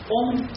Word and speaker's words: Om: Om, the letter syllable Om, is formed with 3 different letters. A, U, Ma. Combined together becomes Om.